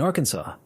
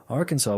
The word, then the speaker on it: Arkansas: They passed a resolution legally declaring that the final S in Arkansas is silent and that any other pronunciation is an innovation to be discouraged.